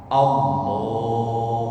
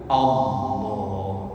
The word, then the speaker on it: Allah: Nah ini kalau kita takbir, kalau pengen dipanjangin, jangan dipanjangkan di huruf hamzahnya, tapi panjangkan di huruf lamnya, lam jalalahnya. Allah. Nah itu kan di lamnya kan. Nah, lam jalalah itu cara bacanya kan ada tafhim, ada tarkik, tapi ini pelajaran tajwid. Tafhim kalau huruf sebelumnya itu berharokat dhammah atau berharokat fathah, maka lamnya dibaca tebel Allah.